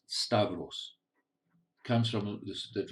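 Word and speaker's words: σταυρός: there are two words the first word is pronounced stavros it comes from this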